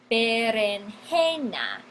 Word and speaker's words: berenjena: son berenjena no tenemos berenjena es una palabra llana énfasis en la penúltima sílaba berenjena palabra llana termina